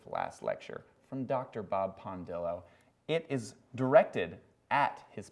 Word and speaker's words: Pondillo: first of all is pondillo spelled as it sounds p n then Dill d i l l like dill pickle then o like I think I